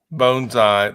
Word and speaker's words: bonsai: sketch a bone fish bonai that's how um the Japanese pronounce bonsai meaning the small tree not jumping out of